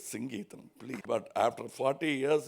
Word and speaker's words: Singeetam: Someone used to get very upset because they say Mr. Sangeetam. No, it is Singeetam.